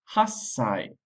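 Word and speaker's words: 八歳: nasai 8 years old hassai so again it's easier to say hassai then Hai say so the language has evolved to make it easier to pronounce 9 years old is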